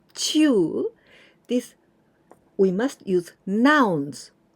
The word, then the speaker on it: 中: 十中八九正しいです。十中八九正しいです。Now the next usage of this chew, and we pronounce chew, this we must use nouns.